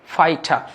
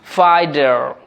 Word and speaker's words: fighter: এটাকে আমরা যদি র এর আগে ভাওয়েল আছে তাই রটা সাইলেন্ট করলে বলতে হবে ফাইটা।